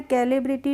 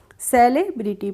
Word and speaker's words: celebrity: और सी के बाद अगर ई आता है, आई आता है और बाई आता है तो वहाँ पे हम सी का प्रोनाउंसिएशन स करते हैं। इसीलिए इसको हमने कैलिब्रिटी नहीं पढ़ा है, क्या पढ़ा है? सेलिब्रिटी पढ़ा है।